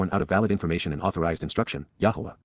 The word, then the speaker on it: Yahweh: Yahweh. Yahweh. The proper pronunciation of the name of Hiloah, God, as directed in his Torah.